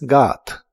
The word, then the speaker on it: got: En el pasado es got. La o de esta palabra se pronuncia como una a profunda.